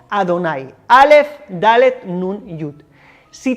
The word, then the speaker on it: Adonai: Es muy sencillo, fíjate bien, como te he dicho, según la tradición judía, nosotros pronunciamos este nombre de las 4 letras como Adonai, Aleph, Dalet, Nun, Yud.